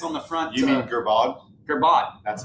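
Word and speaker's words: Girbaud: Gerbeau jeans. Yeah. The little tag that's on the front. You mean Gerbod?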